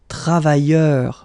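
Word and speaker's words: travailleurs: So phonetically it's the same, travailleur singular form without the S, and then travailleur plural form with the S, it's the same.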